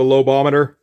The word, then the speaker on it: Lobometer: And we also get the Lobometer, which is the correct pronunciation.